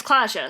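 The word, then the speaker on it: Klaasje: Well, if Is it Klaja? It's Klaja, so that'll be a y sound, right?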